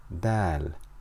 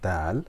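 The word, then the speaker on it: دال: begin with the letter Dal repeat after me Dal Dal Dal Dal makes a D sound like in the English word dinosaur so repeat after me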